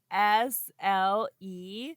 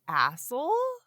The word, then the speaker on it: Asle: it is Asle, which I feel like is pronounced asshole. Yeah, or like "ossel," which I don't know if that's right.